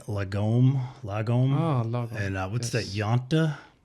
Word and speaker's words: lagom: Lagom? Lagom. Lagom. It depends on your accent, of course, but lagom is Lagom.